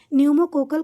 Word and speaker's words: न्यूमोकोकल: इसलिए इसको समझने में दिक्कत हो रही होगी लेकिन जान जाइए कि पी से शुरू है लेकिन ये साइलेंट है पी और एन से ही पढ़ा जाता है। इसलिए इसको न्यूमोकोकल कंजूगेट वैक्सीन के नाम से जाना जाता है।